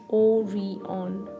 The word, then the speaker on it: Orion: in the crowd about the newest and the shiniest mall, Orion, pronounced O-re-on.